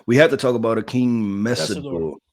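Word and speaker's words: Akheem Mesidor: We have to talk about a King Messor, right? I I think that's the proper way to pronounce it.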